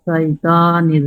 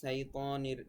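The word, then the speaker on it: الشيطان: আউযু বিল্লাহি মিনাশ শাইতানির রাজিম। এখানে উচ্চারণটা সাইতানির এরকম হয়ে যাচ্ছে, কিন্তু সাইতানির বলা যাবে না, বলতে হবে শাইতানির শ শ এরকম, শাইতানির শাইতানির রাজিম।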